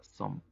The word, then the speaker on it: sommes: En el caso de nu, la terminación ES es muda, por lo tanto se pronuncia som.